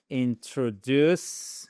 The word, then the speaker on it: introduce: Let me let me introduce introduce accentuation ici. Regardez. Introduce.